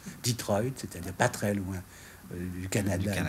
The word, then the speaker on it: Detroit: usines d'automobilees de la région de dettroit que l'on prononce Detroit c'est-à-dire patrel loin du